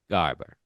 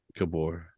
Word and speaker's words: Gabor: three Voice by Ava Garber Wait no that's not how you say that g b o r how do you say her name Gabor AA Gabor I think that's the